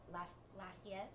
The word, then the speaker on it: Lafayette: 2 stops in Louisiana and New Orleans and Lafayette. I always say that wrong. You pronounced it right.